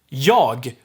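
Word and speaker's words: jag: before and adjectives if you remember we drop the g ending here we have yog which means i most likely almost every time gonna be yo all right yeah then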